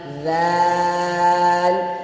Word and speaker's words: ذال: کھینچ کر پڑھیں گے۔ دال دال ذال ذال ذال ذال۔ ناظرین، ذال کو بھی 3 سے 4